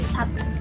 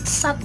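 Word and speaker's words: साथ: Kalian harus bisa bedain ya antara sat sama sat yang pakai H. Jadi kalau S-A-A-T bacanya sat, artinya 6. Kalau S-A-A-T-H belakangnya ada hanya dan bacanya kayak ada sat gitu, itu artinya bersama-sama.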